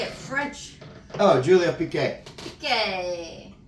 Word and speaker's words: Piquet: Piquet. I want to say Piquet. That's French.